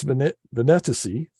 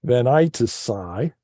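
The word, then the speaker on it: Venatici: Now, for the constellation, I've chosen, and I found two pronunciations of it. So Canis Venetici, or Venitici. Some people say Venitici, some say Venitici.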